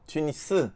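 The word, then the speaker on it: Tunis: 알아보면 투니 쓰고 이거를 프랑스 사람들이 튀니지 라고 부르고 있고 영어는 튀니지 튀니지 안돼 우리는 이제 프랑스 씩 발음으로 해서 튀니지 이라고 쓰고 있습니다 사실은 현지 발음대로 하는 거 봤거든요 그분도 투 니스 라고 해야 되고 아마도 체가 그룹 북한은 투미 쓰라고 하는 걸로 알고 있어요 아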